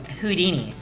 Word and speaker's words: Houdini: Uh, first of all, it's pronounced who? No, it's Houdini.